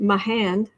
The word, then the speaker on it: Mahan: So Jeanette says Mahan is pronounced like with a southern accent. Mahan.